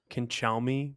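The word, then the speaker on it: Cancelmi: I'm gonna murder this, but I think it's Canchelmy, but it's spelled like cancel me.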